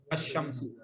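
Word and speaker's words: الشمس: अल हिर्रु, तो लाम साइलेंट नहीं होगा क्योंकि हरफ कमरी। हरफ शम्सी होगा तो फिर लाम की आवाज नहीं आएगी, बल्कि डायरेक्ट उसकी आवाज, अश्शम्सु।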